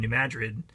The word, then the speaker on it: New Madrid: that way but if you find yourself in New Madrid you should pronounce it that way and things will go